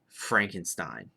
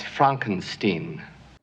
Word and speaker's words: Frankenstein: to be talking about Frankenstein. That's Frankensteen. Or however you want to pronounce it, I guess. But it actually is. I'm fairly certain. I guess if you wanted to do it in German, Inga can correct me on this.